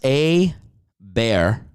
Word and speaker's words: Hebert: First off, it's pronounced A-Bear.